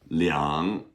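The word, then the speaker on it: 两: Leang. Use Leang, right? Even though it's e r, if you say two of something, you have to say leang.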